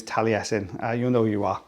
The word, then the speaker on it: Taliesin: one so yeah that's the way you pronounce that that particular name is taliesin uh you know you